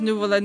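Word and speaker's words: Neuvillette: New Pon actually says nuvallet.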